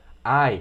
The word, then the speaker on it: eye: estão vendo aqui embaixo, só que a gente pronuncia eye, como se você estivesse com dor aqui em português mesmo, quando alguém te dá um soco ou belisca você, você fala o quê?